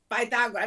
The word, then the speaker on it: Pythagoras: Pythagoras in the Greek, the way you pronounce it, would be Pythagoras. I mean, it depends on the accent.